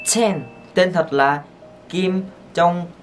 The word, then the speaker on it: Chen: Nhưng các bạn phải đọc chữ Chen này bật hơi một chút xíu sẽ ra là Chen. Chen.